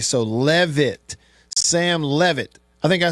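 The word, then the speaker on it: Leavitt: He said his last name is pronounced like the E is pronounced in Lebby. So Levit. Sam Levit. I think I said leave it earlier, didn't I? So it's Levit.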